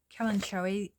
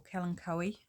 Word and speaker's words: kalanchoe: My thyme plant, a kalanchoe or kalanchoe, whichever way you want to pronounce it, that my mother-in-law bought me after surgery, which I haven't killed, amazingly.